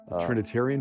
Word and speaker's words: Trinitarian: My uncle was had baptized me in Trinitine. I'm saying it wrong. Trinitarian formula?